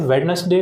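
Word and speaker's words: Wednesday: कर देते हैं, इसे वेडनेसडे ना पढ़ते हुए वेडनेसडे पढ़ते हैं। क्या पढ़ते हैं? वेडनेसडे, वेडनेसडे नहीं होता, वेडनेसडे, ठीक? तो यहाँ पर जो डी है वो साइलेंट है, ठीक?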